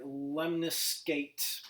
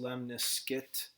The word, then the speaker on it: lemniscate: this is called the Miss that looks like lemniscate but it's actually pronounced lemniscate it's guessing German just the pronunciation lemniscate what these look like basically you're gonna get